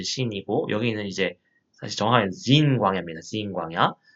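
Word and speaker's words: Zin: 근데 좀 헷갈리는데 그 신의산에 가기 전에 보면 여기에 신광야가 있습니다.이 신은 어, 그 영어 스펠링으로 사실 좀 다 다릅니다. S 이제 신이고 여기는 이제 사실 정확하 지인 광야입니다.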